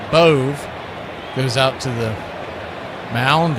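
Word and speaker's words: Bove: Zack Boove spelled B O V E. He pronounces it Boove.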